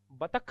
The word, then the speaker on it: बतख: जैसे पहला ही शब्द बतख, बोलते बतख है, जबकि बतख होता ही नहीं, बतख होता है, ख का उच्चारण करना है।